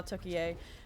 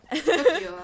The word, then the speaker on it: Tokyo: Tokyo, I believe. Tokyo, is it? Okay, Yeah. they just spelled it. Yeah, I guess like the city.